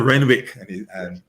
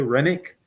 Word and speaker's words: Renwick: 2015, WIRSPA, Von Rennick, he pronounced his own name differently than I've been pronouncing it all these years. I've always been saying Renwick, but then he mentioned his own name in some reference recently, and he said, "Did you say Rennick?"